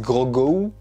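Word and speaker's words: Grogu: go petite parenthèse mais ça fait deux vidéos que je switche entre la prononciation gros goût ourgaud il me semble qu'en vo ils disent gogo donc on va dire gros go ok mundo se fera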